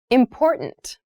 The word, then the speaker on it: important: Yes, the pronunciation of this word, that first T, is actually reduced. It sounds more like a D in fast speech.